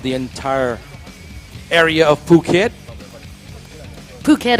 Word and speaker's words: Phuket: Phuket, of course, pronounced Phuket.